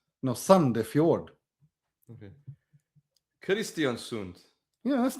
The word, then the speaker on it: Sandefjord: Isn't O pronounced U? No. Oh, okay. Brann, yeah. HamKam. Yeah, HamKam. Sandefjord. No, Sandefjord.